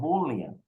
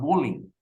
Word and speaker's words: bullying: Carlos today we are going to talk about Boolean Boolean and pay attention to my pronunciation is Boolean it is not bullying that we say normally in Spanish we say